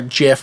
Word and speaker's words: GIF: Oh, you're a gifer, not a gifer. I'm a gifer. I am. It's a soft G. I'm a hardgy. I'm a GIF guy.